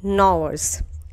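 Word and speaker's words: gnawers: क्या कहा जाता है नवर्स जी इसमें साइलेंट होता है नवर्स क्या है जी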